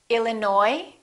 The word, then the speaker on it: Illinois: say cupboard my kitchen cupboard silent s arkansas illinois island debris all right one more silent w